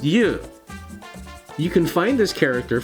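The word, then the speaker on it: 油: himself or herself alright it's got something to do with fluid and it sounds like you what could it be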